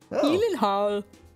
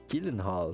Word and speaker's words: Gyllenhaal: Gyllenhaal. Okay, so that's actually how you pronounce it. That's how you pronounce it. Gyllenhaal.